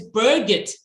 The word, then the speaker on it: Birgit: So hi, Bridget, you can go ahead and unmute yourself, dear. Oh, is it not Bridget? It's Birgit. I apologize. It's Birgit, not Bridget.